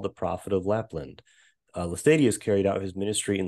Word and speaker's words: Laestadius: Am I pronouncing that right? Lars Levi Laestadius, yeah.